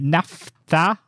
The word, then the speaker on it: naphtha: The naphtha, that perfect. Can you say that again, please? Perfect pronunciation, Miles, right there.